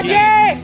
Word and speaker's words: Keen: He's pretty keen. And Keen, of course, rhymes with green.